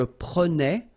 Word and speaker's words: prenais: All right, so same thing here, final S not pronounced. Je prenais, tu prenais, il prenait, final T not pronounced, so the same form, okay?